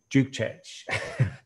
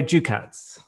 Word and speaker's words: Dukec: of bmw design domagoy duke czech hi domingoy i said your surname wrong after all that rehearsal i think do you care cats don't go ducats perfect this is okay but